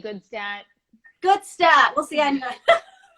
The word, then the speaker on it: Gutstadt: Is it Goodstat? Is that how you say it? Yeah, there's so many ways to pronounce it, but we can say Goodstat.